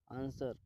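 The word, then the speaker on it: answer: आंसर. आंसर का मतलब होता है जवाब देना. दोस्तों इसमें डब्ल्यू साइलेंट होता है.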